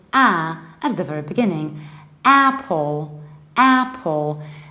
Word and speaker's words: Apple: as the very beginning Apple Apple this is the same kind of air that you have in abbreviation from application app Apple in American accent this